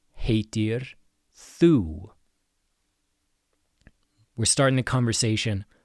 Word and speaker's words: heitir: And we have heitir again ei makes the a sound.